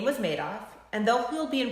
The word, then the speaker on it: Madoff: to pronounce it and he said made off like he made off with the people's money if i named a